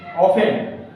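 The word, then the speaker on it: often: Today, daily, everyday, ऑफन, ऑफन T silent है, always, sometimes, usual, usually, regular, regularly, ठीक।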